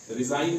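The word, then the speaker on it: resign: आया तो साइलेंट है रिजाइन है आर एस आईजी ए ए से पहले जी है तो साइलेंट रहेगा असाइन है एड एस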